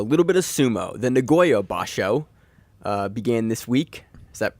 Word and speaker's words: Nagoya basho: off with a little bit of sumo then Nagoya ba show began this week is that correct Josh yes